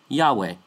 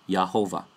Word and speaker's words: Yahweh: nor does the university wide, as they say Yahweh, not Yehovah.